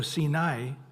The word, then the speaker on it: Sinai: And somehow the area of Sin is connected to Sinai, or Sinai, actually it is I pronounced as I after an A. So Sinai, we don't know what it means.